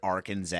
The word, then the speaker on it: Arkansas: Let's rip Arkansas' ass, dude. Rule number or law number one, it is illegal to mispronounce Arkansas. State code mandates three syllables, silent final S, Italian A sound.